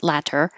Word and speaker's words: latter: pronounced with the t's latter but it's much more common for American English speakers to change that t to a d ladder and then it will